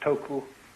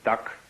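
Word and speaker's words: 徳: this word death uh the japanese pronounce it toku these cantonese duck and the northern mandarins approximately and uh in the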